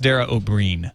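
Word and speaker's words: Dara Ó Briain: It's pronounced Dara O'Brien, by the way.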